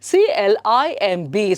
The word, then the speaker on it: climb: Okay, then CLIMB. So now you see these are all examples where a B sound koneli bandaga adanna navu helabardu, you have to silence it.